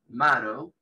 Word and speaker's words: marrow: Médula es esta palabra, marrow, ¿sí? La doble R en inglés se pronuncia como una sola R, por eso digo marrow.